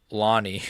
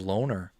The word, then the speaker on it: Lonnie: His name is pronounced Lonnie. Lonnie Kavanagh. I thought it was Loner.